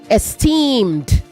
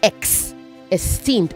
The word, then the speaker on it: esteemed: Also say esteemed. Esteemed not ex esteemed.